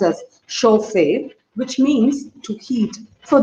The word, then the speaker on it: chauffeur: So taken from the French word chauffeur, which means that is actually pronounced as chauffeur, which means to heat.